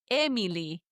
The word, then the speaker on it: Emily: And that's, I guess, why my name in Spanish, Emily, is pronounced Emily, Emily. The accent, the emphasis is on the me, even though there is no accent because it's that second to last syllable.